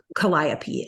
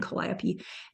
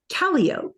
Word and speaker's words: Calliope: it was aside from something Calliope and pronouncing it caliope and everyone kind of like correcting me so there are definitely